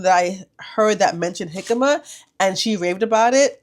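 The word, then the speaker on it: jícama: So the J is supposed to sound like an H, so it's jicama.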